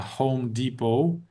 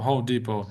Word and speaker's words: Home Depot: intuitive, you know, because the T doesn't get pronounced and the O is you like, you know, like kind of long. Yeah. Yeah. Yeah. So, Home Depot.